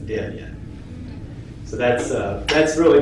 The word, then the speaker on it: Debian: also got it right that is not U deviant it's deviant so that's uh that's